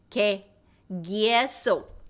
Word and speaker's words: 계속: So the pronunciation of that word 계속 is 계속 아니에요? 계속.